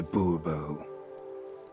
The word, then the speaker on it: Bourbon: monsieur de bobo fine monsieur de bourbon the emphasis falls on the last syllable see now i'd rather